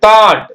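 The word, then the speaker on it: thought: அப்படி சொல்ல பெருமூச்சு எஸ் ஐ ஜிச் சை அடுத்தது தாட் தாட்னா சிந்தனை எண்ணம் அந்த மாதிரி இப்ப தாட் டிச்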